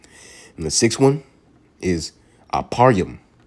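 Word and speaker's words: אפרים: And the sixth one is Aparyum. Aparyum in the Hebrew, how you pronounce it in the Hebrew, means I am fruitful.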